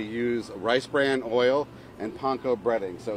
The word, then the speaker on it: panko: A lot of people see at the store, it's called panko. It's actually pronounced panko in Japanese.